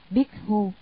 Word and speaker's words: Bhikkhu: Tỳ Khưu là tiếng Ấn Độ, nguyên âm đọc là Bhikkhu, có hàm ba nghĩa: